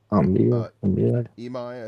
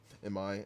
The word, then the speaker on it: Imai: Looks like they're going to go Hunter Brown, Mike Burrows, Christian Javier, Tatsuya Imai, I think is how you say it. And Imai, and then Lance McCullers to round it out.